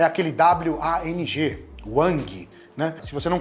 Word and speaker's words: Wang: E até você viu que eu pronunciei em inglês, eu não falei o G. E em chinês você também não pronuncia esse G no final. Não seria Wang, né?